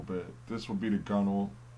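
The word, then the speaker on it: gunwale: but it's pronounced bow now this is like gunwall but it's pronounced gunnel it's the upper edge of of a boat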